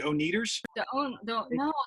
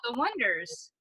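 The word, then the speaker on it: Oneders: the band the o-neders wonders Oh needle eye there's two ways spell it and there's the wonders which is w like like Wonder Bread and then there's wonders where you spell oh and E right the joke of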